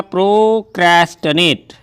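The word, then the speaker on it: procrastinate: नो I would प्रोक्रेस्टिनेट, याद रखेंगे इसका प्रोनाउंसिएशन है प्रोक्रेस्टिनेट। अब TIN से जरूरी नहीं है कि टीनेट होगा, ये टनेट ही है, SIR सिर नहीं सर होता है, वैसे इंग्लिश है तो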